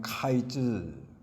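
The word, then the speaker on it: קַיִץ: 히브리어로 여름과일 하면 카이즈 그렇게 발음을 하고, 종말 하면 케이즈, 이렇게 발음이 비슷합니다.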